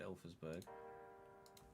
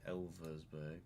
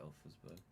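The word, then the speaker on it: Elversberg: We just promoted Alersburg. Sorry, Elversburg. Although to be fair, they'll pronounce it Elersburg in Germany.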